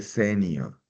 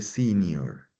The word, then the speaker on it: senior: No se dice senior, se dice senior, ¿ok?